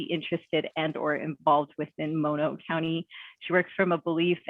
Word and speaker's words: Mono County: She is the director for the Mono County Behavioral Health Department, and she has taught me that this is how you say Mono County.